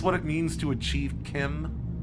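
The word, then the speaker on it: CHIM: Is this what it means to achieve Kim? It's weird that it is pronounced Kim. That's what Michael Kirkbride says. It's kind of like a GIF thing.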